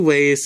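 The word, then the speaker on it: は: As I mentioned in a previous video, wa, this is actually ha, but it's pronounced wa when it goes after the topic of a sentence.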